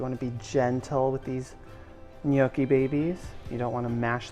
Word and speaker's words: gnocchi: Please go make gnocchi at home. Should we get someone else? Sarah, would you like some gnocchi? I thought you never asked. Sarah, how do you pronounce gnocchi? Gnocchi. Gnocchi. Gnocchi, like Snooki.